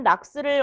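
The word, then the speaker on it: NOx: 연소 조절에 의한 낙스를 억제하는 방법이다. 옳지 않은 것은 얘를 낙스라고 읽어요.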